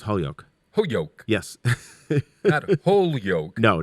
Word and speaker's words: Holyoke: fame which is in springfield 20 minutes from holy yolk holyoke holyoke what do you mean it's that's exactly how it's pronounced holyoke holyoke a yes yolk no not holy oak it's actually holyoke holyoke yes there's no l